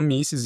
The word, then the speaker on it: Mises: A gente fala misses, em inglês também é misses. Em alemão eles falam misses.